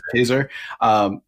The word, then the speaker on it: Kaczor: Is that how you pronounce his name? Yeah. Kaczor.